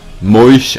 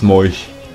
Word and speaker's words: Moos: Moos wird Moisch ausgesprochen. Moisch? Okay, it's Moisch.